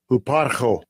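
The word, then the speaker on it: ὑπάρχω: So this is the word in Philippians 2:6, or the word here who is, we'll pronounce it here. Strong's G5225. Huparcho.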